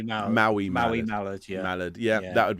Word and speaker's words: Maui Mallard: I always say it wrong. Mayo Mallard game as well. Maui Mallard.